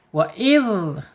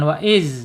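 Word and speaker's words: وإذ: Wa'idh, awas, hati-hati, jangan wa'iz, wa'iz, zai, jangan ya, wa'idhal.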